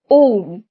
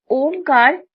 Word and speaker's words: ওম: ওম। সনাতন ধর্মের সবচেয়ে বহুল ব্যবহৃত শব্দগুলোর মধ্যে অন্যতম হচ্ছে ওম। অনেকে এটিকে ওম উচ্চারণ করলেও চিহ্নটির প্রকৃত উচ্চারণ হচ্ছে ওম।